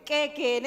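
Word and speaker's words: k'éek'en: Ay, ¿cómo se pronuncia? ¿Qué, Ken? Quequen, exactamente.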